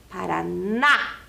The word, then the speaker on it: Paraná: O N e a letra A com o acento agudo que faz esse som mais forte do A. Paraná.